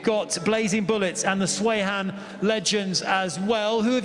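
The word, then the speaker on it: Sweihan: Is it Swayhan or Swehan? Swayhan.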